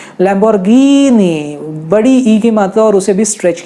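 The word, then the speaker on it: Lamborghini: ए stretch करना है कुछ शब्दों जैसे लांबोर्गिनी यहां पर जब भी ही की मात्रा है कि ने बड़ी ही रहेगी जैसे लेंबोर्गिनी लेंबोर्गिनी नहीं बोला है लंबोर्घिनि बढ़ी कीमतों और उसे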